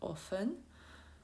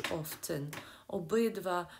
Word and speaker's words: often: Я його вам прочитала як often. Ну ось, ви можете почути також often. Обидві вимови абсолютно правильні, обидві навіть внесені до словника як офіційні вимови. Often або often, як хто до чого звик.